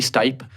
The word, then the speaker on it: Stipe: Someone said that's like after he knocked out Stipe, how he pronounced his fucking name, called me a fucking casual. Everyone was like, It's actually Stipe.